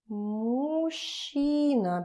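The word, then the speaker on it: мужчина: a very interesting word it's pretty difficult to pronounce it as because those two it's difficult to put them together when you try fast it's becoming uh kind of too much effort so you pronounce it as muchina she sh mushina and of course it's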